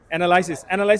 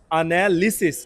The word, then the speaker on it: analysis: right তারপরটা কি ছিল অ্যানালাইসিস উচ্চারণ হবে অ্যানালিসিস নট লাইসিস রাইট এরপরটা কি ছিল ডেঙ্গি